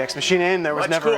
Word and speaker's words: Ex Machinae: The band name is pronounced Ex Machinae. Ex Machinae. And I'm probably gonna get a little flack for that because I've been pronouncing it really both ways for a while, and I've been pronouncing